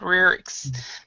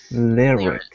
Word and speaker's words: lyrics: lyrics lyrics yeah okay because the first one you didn't kind of sounded sounded more Japanese he said lyrics lyrics lirik yeah some lyrics by